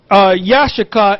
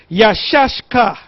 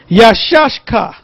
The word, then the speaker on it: Issachar: Now, the way to pronounce it is not Yashaka, is Yashashka. Yashashka.